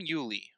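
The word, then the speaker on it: Uley: be it is uh next up is Sam Uli that's how you pronounce his last name what do you think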